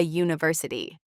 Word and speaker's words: university: It starts with you, but the sound is you. So, we say a university.